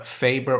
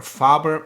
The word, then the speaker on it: Faber: street co-host david uh faber or faber if you wanna pronounce it in uh correctly uh as the germans would and i've got to